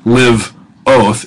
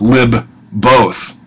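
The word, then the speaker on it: lībbôt: it's not in a it's not Liv oath it's Li both okay is the way that we'll pronounce that so this is a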